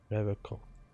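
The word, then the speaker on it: Revachol: He pronounces Revacol with a hard K. Unlike other people. Revacol.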